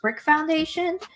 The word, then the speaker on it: BRIQ Foundation: It's like BRIQ Foundation, but it's pronounced Brick Foundation, to try to see,